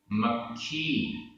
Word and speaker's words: मक्खी: मक्खी, मक्खी आधा क ख, मक्खी।